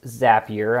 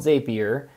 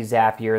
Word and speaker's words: Zapier: and it is pronounced zapier i asked that company specifically sometimes it's called zapier but it's actually zapier and they said because zapier makes you happier so it's a good